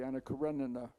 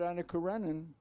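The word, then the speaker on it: Anna Karenina: I mean what you remember about uh Ana Corenan in America we mispronounce it. We say Anakarenina which is incorrect as you know. Uh but what you remember about Ana Karenan is Anna and what she does.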